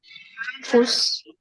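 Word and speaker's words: Fuß: Fuss. Exactly. So this is nothing but equivalent of double S. Okay, so we pronounce it similar to sir, fuss.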